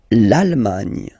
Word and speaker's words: L'Allemagne: L'Allemagne. L'Allemagne. Gna, gna, gna, gna. Remember this G and E, it can be quite tricky at the beginning to produce, I mean the sound gn, okay?